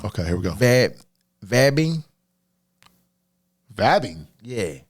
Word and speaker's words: vabbing: Vabbing? Vabbing? Yeah. Like VABING? Yeah. Vabbing? Yeah. The fuck is that? Not vaping. Okay, I was almost thinking you were thinking vaping, but nope. It's vabbing.